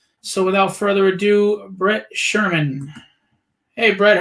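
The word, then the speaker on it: Schurman: artist his name is Brett uh Sherman it's pronounced Sherman it's spelled s c hu r m an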